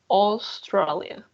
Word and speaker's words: Australia: don't forget please that in english a u for example australia people restaurant right so here you have a u we're gonna say australia sona restaurant yes so please jose